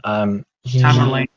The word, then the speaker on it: Tamerlane: that they, is it Tamerlane? I can't remember his name. Tamerlane, that's yeah, one of the ways to pronounce his name.